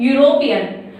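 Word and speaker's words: European: Next, यूरोपियन, यूरोपियन ई से start हो रहा है, लेकिन यह जो है यूरोपियन, यह जो वर्ड है यह यूरोपियन हम लोग यू से शुरू कर रहे हैं।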